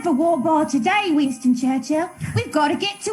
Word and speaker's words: Churchill: Is it Churchill or Churchill? Churchill. You kind of hit the L.